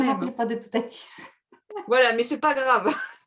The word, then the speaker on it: Toutatis: Il faut prononcer le Oui, S. Oui, c'est ça. Et toutatis, comme Astérix. Oui, toutatis.